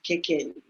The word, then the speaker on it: Kekeli: me for example like my name is KK um so that's the proper pronunciation of it okay um but